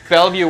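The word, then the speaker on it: Bellevue: I I don't know how to pronounce it. View. Belleview, Washington.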